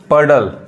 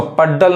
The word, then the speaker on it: puddle: अब नेक्स्ट देखिए जैसे डी है, PUDDLE, पडल। अब इसको पड्डल नहीं कहेंगे, क्या हो जाएगा, गलत हो जाएगा, पडल।